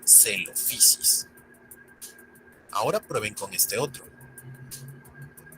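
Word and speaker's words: Coelophysis: Por ejemplo, PH se pronuncia como una F suave. Ahora, combinemos lo aprendido con este género. Ahora sabemos que se pronuncia celofisis.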